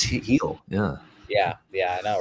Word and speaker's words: Gil: louise heal i was like his name is pronounced apparently and he just i've been calling him gill all year it's he'll yeah yeah yeah i know right but uh